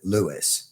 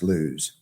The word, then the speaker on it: Lewes: there building houses, but now everybody calls it Lewis. Weird. But it's actually pronounced Lewes.